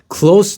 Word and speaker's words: close: Close to یعنی نزدیک بچه ها اینجا، و تلفظش هم فرق میکنه. Close the door میگم close close the door. در رو ببند. اینجا چیه؟ تلفظش میشه close.